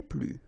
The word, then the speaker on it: plus: Okay, so keep in mind that I don't pronounce this final S here, so we get le plus, la plus, les plus.